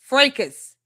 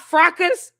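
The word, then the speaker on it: fracas: Frecus, not Fracus. Frecus.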